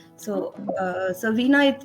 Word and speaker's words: veena: a little bit more about it's the the veena or is that the right way to pronounce it yes it's veena correct so uh so veena it's a codophone instrument from india so it's